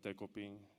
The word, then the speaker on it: デコピン: And as far as the dog's name, he was originally named Decoy, so I kind of took that and made it Dekoping.